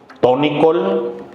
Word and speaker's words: Tonicol: Aquí le dicen Tonicol, o sea, con el acento en la O.